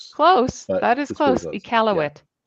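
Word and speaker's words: Iqaluit: I'm probably going to butcher it, but it's it's uh equal. It's probably close. Close. That is close. Ealowit. Ealowit. Thank you. Yeah. Um, it's spelled with a Q.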